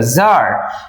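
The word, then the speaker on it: tsar: সবার প্রথমে যে ক্যারেক্টার সেটা হচ্ছে দ্যা জার। এই জার প্রোনাউন্সিয়েশনটা খেয়াল রাখবে টি এস এ আর জার।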